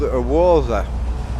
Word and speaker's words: Woza: It's a company called Woza. Begins with a silent W.